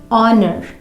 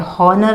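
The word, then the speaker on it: honour: जैसे honest, आवर, ऑनर, इसे ऐसे पढ़ा जाता है, हॉनर नहीं पढ़ा जाता, हावर नहीं पढ़ा जाता।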